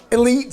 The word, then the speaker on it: Elyte: Elite spelled like this, E-L-Y-T-E, because originally Eli Callaway set up Callaway.